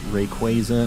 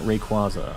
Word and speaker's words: Rayquaza: in the future it's Rayquaza not Rayquaza I'm I'm saying Rayquaza I'll just let you know right now I'm also not changing that I'm fully committed to Rayquaza Arceus I'll just start